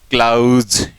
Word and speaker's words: clause: हम बोलते हैं क्लोज, इसको तो हम इस तरह से बोलेंगे। जबकि हम इसको क्या बोलेंगे, इसको हम बोलेंगे क्लाउज। होते हैं ना जैसे कि कई बार जो कॉम्प्लेक्स सेंटर होते हैं प्रिंसिपल क्लोज और सबऑर्डिनेट क्लोज या मेन क्लोज, तो ये तो होगा क्लोज और ये होगा क्लाउज। ये ओ ये औ, ये साउंड, ये अंतर है।